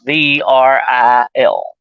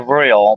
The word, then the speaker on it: Vril: It's spelled V-R-I-L, Vril.